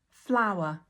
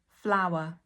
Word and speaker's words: flour: Flower. Flower. And item number two is flower. Flower. These two things have exactly the same pronunciation in terms of the phonetics.